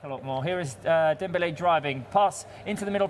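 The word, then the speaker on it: Dembélé: It's Dembele. Because there's two accents on the E.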